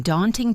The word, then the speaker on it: daunting: In daunting prospect, the stress is on the first syllable of daunting.